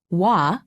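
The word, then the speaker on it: 와: me also written as wah is pronounced wa imagine that you are trying to say oo and ah quickly be sure not to pause in between pronouncing the two sounds repeat after me also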